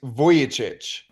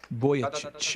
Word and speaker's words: Vujicic: how are you sir I'm good uh the pronunciation is voyich voyich everybody say with me now voy chit if you're in your car right now you're